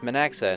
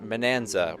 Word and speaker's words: Minaxa: friends with maaa who I'm now learning is pronounced manxa and not Manza I don't know where